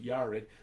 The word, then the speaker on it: Jared: Actually, it's pronounced Yared, but Jared.